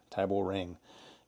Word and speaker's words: Tiborang: our Tyber rang pan I'm going to just say that Tyber rang tyor rang is the way they pronounce this so I've got this